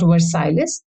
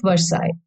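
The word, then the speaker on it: Versailles: dou L S is silent so it is pronounced as Versa not not verses so this is treaty of versai and this dates back to 1919 the year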